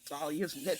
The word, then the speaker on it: Thalia: this particular thing this is not how you pronounce talia's talia's name her name is Talia right right